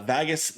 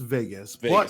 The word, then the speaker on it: Vagus: what is it lore lover and Storyteller uh Vagas The uh what's up vas yeah um wow I'm doing great man and um it's actually it is pronounced Vegas okay it's okay it's okay it's a very